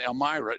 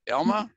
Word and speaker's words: Elma: for you and some reminders but Doug and Elmyra am I saying it right am I say your name right Elma Elma right Elma yeah let me write it down if I